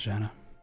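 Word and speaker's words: Gehenna: are like roenna ge is it G or is it a hard G or a J sound? Actually, I don't know. Uh pronounce I should just figure it out for once. American pronunciation is Janna.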